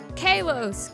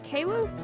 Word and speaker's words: Kalos: the france one called kalos kaylos callos i think it's pronounced callows or whatever caleb i think he